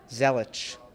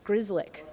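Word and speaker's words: Grzelcyk: you say his name I'm gonna go in Matt Zoellick that's what I said I thought it was that but it's actually Matt Grizz lik Grizzly what do you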